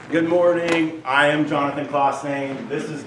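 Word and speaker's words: Claasen: you Greg yes good morning I am Jonathan klossain this is not me John Steen is our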